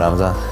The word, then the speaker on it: Ramzan: Ramzan, yeah. He surprised you with a Mercedes-Benz? Yeah, actually gave me 3 times. 3 Benzes? Three Benzes? Yeah. As his stardom grew, the head of the Chechen Republic, Ramzan Kadyrov, decided to befriend Chimaev and celebrate his